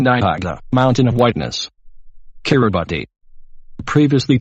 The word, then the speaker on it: Kiribati: the Swahili Karen de agua mountain of whiteness Kiribati previously called the Gilbert Islands Kiribati is the native pronunciation at Gilbert and is pronounced care abbis Kosovo Kosovo's name came from the serbian cyrillic